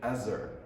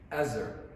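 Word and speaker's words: עזר: You read it with the pronunciation Ezer. Ezer.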